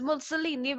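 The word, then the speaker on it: Mussolini: is the Italian dictator because musolini rhymes with a lot of Italian pastas it rhymes with aini musolini rhymes with ordini musolini rhymes with I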